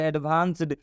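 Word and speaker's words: advanced: इसके साथ ईडी जोड़ेंगे तो हो जाएगा एडवांस्ड।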